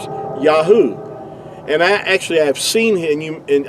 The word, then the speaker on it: Yahuah: These first three letters here, going from right to left, is going to give you Yahuah.